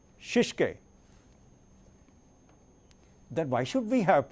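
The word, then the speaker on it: shitsuke: And sustain means discipline, and the pronunciation for the Japanese word is shishike.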